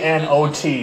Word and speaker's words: knot: spell the word not k n o t not spell the K say it like it's not there not it's not the knot